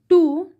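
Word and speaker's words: two: इंग होगा striking striking टू stones हां इसमें डब्लू क्या है साइलेंट है हम टू हो जाएगा एस टी ओ स्टो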